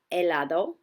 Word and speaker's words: helado: differently in Spanish words the letter H when seen in a Spanish word is silent here are a few examples ice cream is helado ice is yellow and